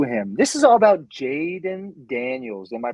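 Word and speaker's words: Jayden Daniels: This is all about Jaden Daniels. Am I pronouncing that right?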